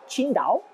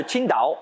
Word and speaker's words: Qingdao: tsi ngp à eau vous ne pouvez pas mieux prononcé que si daho en fait qui se prononce plutôt comme chine dans kin thing et signifie vert bleu